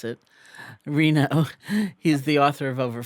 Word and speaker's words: Reno: nevada he's trying to teach me how to pronounce it reno he's the author of over 40 books and